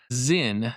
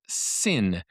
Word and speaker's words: Sinn: also heard it pronounced Sinn. Um I believe the Germans actually say Sinn with a s sound at the beginning, but then it has a little little hint of a z in it.